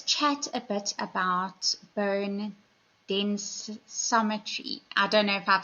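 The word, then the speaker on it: densitometry: So, it's bone densrometry. You did say it almost quite correct.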